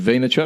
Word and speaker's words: Vaynerchuk: Talking about Gary Vaynerchuk, that's how you pronounce his surname, right? Is it Vaynerchuk? Yep.